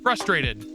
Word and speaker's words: frustrated: Frustrated. There is an R in there, people.